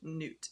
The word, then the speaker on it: Nut: German nut, pronounced newt, meaning groove or slot.